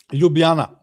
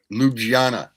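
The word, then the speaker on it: Ljubljana: Zagreb in 75 and I have no idea how to pronounce this. Yubana. Lugjana. Yeah. Yubana. He did shows there. Slovenia. Lubana is the capital of Slovenia.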